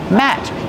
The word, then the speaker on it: mat: table like this placemat how do you pronounce the word math matte use the short a sound like black cat Matt this is a placemat